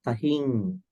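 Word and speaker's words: tahiṃ: Peta kalagata tahing. So it's rhyme, but when you pronounce it, has a sound.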